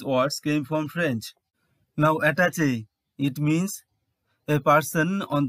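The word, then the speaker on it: attaché: standard word number 11 attach a this word is borrowed from French actually words ending with this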